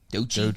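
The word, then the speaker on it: Doechii: And then like, "Man, I got pronounced Doi." Dochi. Dochi.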